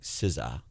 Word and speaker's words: SZA: song by an artist it's s-z-a but apparently it's pronounced I I feel it don't look at me I feel uncomfortable even saying the word sza but it's pronounced like sizza I'm not cool enough